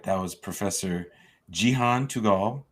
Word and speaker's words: Tugal: All right, that was Professor Cihan Tugal. Did I say it right, Jean? Tugal, yep.